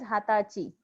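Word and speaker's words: はたち: Now 20 is an exception. So 20 is known as hatachi. Hatachi. So the pronunciation for 20 is niju, but 20 years old is known as hatachi. So this is only for 20.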